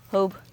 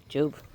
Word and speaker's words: Job: Job, depending on the pronunciation, what language you speak. Hope in Spanish. Job in English.